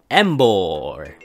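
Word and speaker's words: Emboar: 英語の名前は日本語と同じ、発音はエンボールです。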